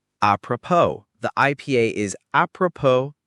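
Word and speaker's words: apropos: A P R O P O S appropo. The IPA is appropo. The final S is silent.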